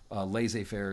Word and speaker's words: laissez-faire: Laissez-faire is the correct pronunciation.